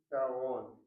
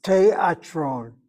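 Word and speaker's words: תיאטרון: Okay, take taron. Let's take taron. No, teatron. Teatron. Oh, break it down the syllables.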